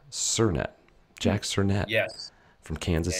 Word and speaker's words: Sernett: get it right yeah it's sirnet sir plus net surnet jack cernette yes from